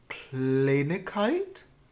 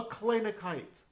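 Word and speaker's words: קלייניקייט: A Kleinigkeit? Sehr gut. For some reason, words that end in the suffix kuf, zwei Juden tes, are pronounced kite, even though it looks like it should be pronounced kate, like Yiddishkeit.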